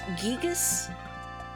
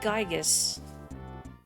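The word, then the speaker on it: Giygas: um of Earthbound that the intent is it's gigas and not gigus but I don't pronounce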